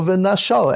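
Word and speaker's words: ונשל: Although you pronounce it as V'nashal, you've got to see it written as V'nishal.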